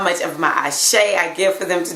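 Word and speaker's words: Àṣẹ: add, my life force, my Ashe is how it's said in Ifa. Ashe, my spiritual power that's within me that has the ability to create whatever.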